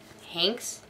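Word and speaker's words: Henkes: chrysanthemum by kevin hanks hanks hinks it's like hank but spelled with an e anyway if you couldn't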